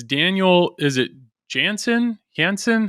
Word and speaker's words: Jansson: it's Daniel is it Jansen Hansen how do you say your last name yeah that's correct in Swedish it's jansson but J yeah okay well that's